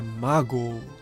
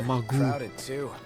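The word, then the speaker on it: Maagho: Aliás, a pronúncia é Mago. Acho que no vídeo do Chocobo Festival falava Magu.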